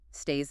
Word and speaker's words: stays: You can really hear the Z sound at the end. Stays. That is a great point about English pronunciation. When we add an S to the end of a word, it does not always sound like a snake.